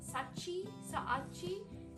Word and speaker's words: Saachi: So the brand is Saachi, and I keep pronouncing it wrong. Saachi.